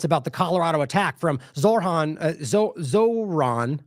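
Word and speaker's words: Zohran: are zero comments about the Colorado attack from Zorhan Zoron how do you say that it's Zoron prior to this one no condemnation of the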